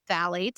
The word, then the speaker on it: phthalates: And those chemicals that are in fragrance, often called phthalates, spelled with a PHTHALATES, there are thousands of them in the industrial market.